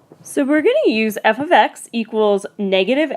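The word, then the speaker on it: f(x): So now remember, this is pronounced f of x.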